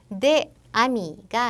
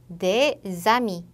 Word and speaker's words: des amis: 얘도 보면 des amis가 아니라 des amis 이렇게 s가 연음이 됩니다. s가 연음이 될 때는 s가 아니라 z 발음으로 연음돼요.